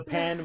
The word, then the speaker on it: Pan: pan and yeah um i'm pronouncing it pawn spanish but yes spanish the pan will also it will also be fine that's suitable as well